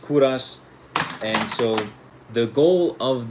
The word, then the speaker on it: Kovras: So it's pronounced Kouras.